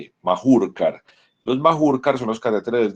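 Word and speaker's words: Mahurkar: Este catéter se llama un catéter Majurkar, se escribe con H, M-A-H-U-K-A-R, Majurkar.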